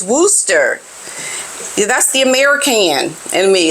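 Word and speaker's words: Worcester: as she arrived at Worchester to open a new $35 million A&E unit my goodness well excuse me for the mispronunciation pronunciation of this word is Wooster that's the American and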